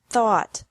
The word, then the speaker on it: thought: Think, thought, thought. Remember that the G is silent in these verbs.